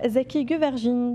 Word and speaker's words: Zeki Güvercin: Et nous avons le plaisir de recevoir ce soir Zeki Güvercin, je l'ai bien prononcé.